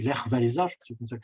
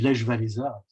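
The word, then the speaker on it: Lech Wałęsa: premier président qui était, alors je prononce à la polonaise, c'est Lech Walesa, nous en français on dit Lech Walesa, c'est Lech Walesa, voilà.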